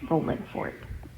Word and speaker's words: Rolling Fork: Now, of course, it's spelled with the G at the end, but I do not say it that way because that's not how they say it. So, I'm not going to say it with the ing cuz that's not how they do it anyway.